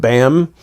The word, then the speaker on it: BAMN: was an organization called BAM. You ever heard of BAM? Yeah. By any means necessary. Yep. And it's BAMN, but the M is silent, I guess.